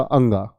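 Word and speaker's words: ङ: इसको मैं आज आपको बताता हूं, इसको अड़े नहीं बोला जाता है, इसको बच्चों बोला जाता है आपका अंगा।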